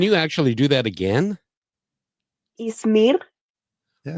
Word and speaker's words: Ismir: Ismir. Ismir. Yeah, but I like your pronunciation way better than mine. Can you actually do that again? Ismir. Yeah, it's got the little tongue roll with the R.